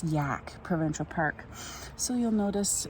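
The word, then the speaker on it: Yahk: get cold this is amazing this is the yak River I guess you pronounce it oh yeah y-a-h-k there's one only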